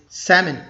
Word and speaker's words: salmon: salmon or something like that but the correct pronunciation is salmon salmon two syllables we'll have salmon for dinner